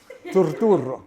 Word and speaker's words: Turturro: Yeah, this guy says my name perfectly. Turturro. He says, see, that's how you say my name. I'm John Turturro, and I am a movie and poster addict.